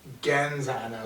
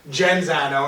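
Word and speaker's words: Genzano: wrong for a while we were pronouncing you genza yeah tiger was not telling us your best friend in the world dragger was not telling us that we're pronouncing your name wrong yeah and then you said jen zano and i looked at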